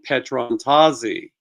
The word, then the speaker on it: Petrontazi: And the correct pronunciation, by the way, for anyone watching, not that I needed to read it, it's Kevin Petrontazi.